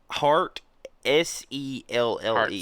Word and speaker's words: Hartselle: Hartselle? Hartselle? Hartselle, Alabama? I've heard of that. Hartselle. Hart, S-E-L-L-E. Hartselle. Hartselle. I'm pretty sure I've heard of that. Which one? Hartselle or Hartselle?